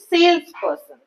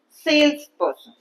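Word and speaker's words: salesperson: is three syllable word so I will say sales person sales part has more stress person part has less stress sales person okay same way accountant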